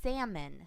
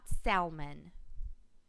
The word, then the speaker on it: salmon: remembrance they say remembrance sometimes people pronounce the letters that should be silent in a word this word should be salmon not salmon and sometimes people add